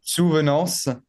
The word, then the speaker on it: Souvenances: Yeah, maybe it's difficult, the A-N before the C. Yeah. Like I used to teach French to foreign people, and usually people, it's difficult to the A-N because they pronounce the N, but you don't have to pronounce it.